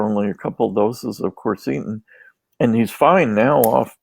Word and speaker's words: quercetin: This, and I'll butcher the flavonoid name, but if you'll just tell us again, quercetin.